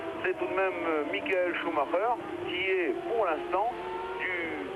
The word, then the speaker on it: Schumacher: Schumacher, oui, comme on le dit depuis la Coupe du Monde de football, de grande mémoire en France.